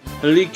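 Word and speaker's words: Helice: drip the bloody helik fun fact helik is a Greek word hence the pronunciation rapers are historically a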